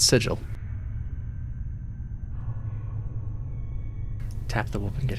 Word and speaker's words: Sigil: you were, outsider, but you pronounced the name of our fair city Sigil, not Sigil, and there can be no excuse for that."